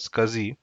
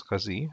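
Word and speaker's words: SCSI: interface another is a we call it as a scuzzy uh we have to pronounce it as kazi um so this we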